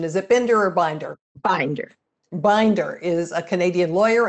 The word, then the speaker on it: Binder: Tell me the right pronunciation. Is it Binder or Binder? Binder.